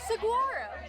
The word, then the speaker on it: Saguaro: right it's like this I think the G is more of like a w sound oh so Saro I